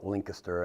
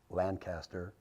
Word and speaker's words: Lancaster: you're out there Lancaster well there's some people called link aster and I go well it's spelled with a z' so I don't know why you're calling it link aster but it's Lancaster if you look at it so you got three